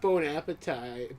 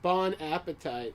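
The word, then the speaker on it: bon appétit: so please bone Appetit he's probably like bone appetite bon appetite like he doesn't even know how to say it right bon appetite what am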